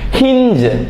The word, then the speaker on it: hinge: റേഞ്ച് റേഞ്ച് ആ എച്ച് ഐ എൻ ജി ഇ ഹിഞ്ച് ഹിഞ്ച് ഡോറിന്റെ ഒക്കെ ഹിഞ്ച് ആ തിരിക്കുന്ന ആ ടൂൾ